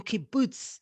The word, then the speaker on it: kibbutz: He grew up as a fruit grower, farmer in kibbutz in Israel. Did I say that? Can you teach me, how do you say kibbutz?